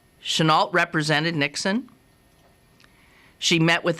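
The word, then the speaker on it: Chennault: Anna tional senal thi think she pronounced it uh Chenault represented Nixon she met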